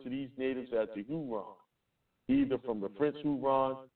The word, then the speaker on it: Huron: They pronounced the name as Heran in French which gradually was known as Hyron and finally spelled in its present form Huron.